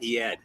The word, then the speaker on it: Eyad: Ayed says his name is pronounced the way that you say it. Eyad.